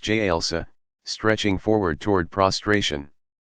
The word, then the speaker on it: jalsa: Sitting on the heels, jalsa, pronounced jalsa, stretching forward toward prostration.